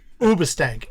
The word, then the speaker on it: Hoobastank: Hoobastank? No, they weren't a punk band. Ubastank is actually the proper way to pronounce it, but not Uba.